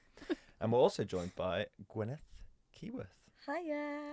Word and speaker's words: Gwyneth: How's my Welsh pronunciation? That was beautiful. Gwyneth. Nailed it. Gwyneth. Gwyneth. It is always a very like a It's a sound, isn't yeah. it? English people go Gwyneth.